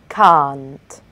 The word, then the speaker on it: can't: Ah, can't. Can, can't. That's all for today. I hope that helps you with your pronunciation of a and ah.